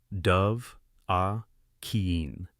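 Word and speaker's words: Dovahkiin: the peak of highgar, they don't say it as two blurred syllables. They stress three separate words. Dove, a keen.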